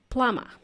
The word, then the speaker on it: plumber: mean goes there is a silent letter B in the world plumber even though you don't